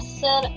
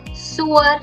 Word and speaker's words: sœur: It's not sœur something, no. Sœur.